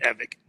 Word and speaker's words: Evick: say whatever you want but I pronounce it evic okay well you should